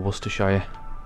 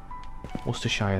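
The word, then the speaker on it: Worcestershire: here Worcester sauce nice ask an American to pronounce Worster or Worster Shire and they are done wer Shire that was very American as well werer uh toffee cool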